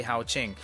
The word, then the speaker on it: Haoqing: the pronunciation that is going to be the most internationally accepted way to say hao ching this is android 11